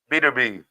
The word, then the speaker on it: Benavidez: I forget how to pronounce it. Bidavo. It's Benavidez.